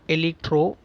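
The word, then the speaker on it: Elektro: the image of the robot electro that is pronounced as e l e k tro moving on to the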